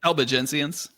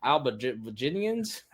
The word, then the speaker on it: Albigensians: Albigensians. You did ecumenical. You put in the script the pronouncer for ecumenical, but not the Albigensians.